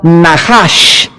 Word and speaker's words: Nachash: Veamos rápidamente esta misma palabra para entender el contexto en el libro de Levítico, capítulo 19, es la palabra Nahash, se escribe Nachash.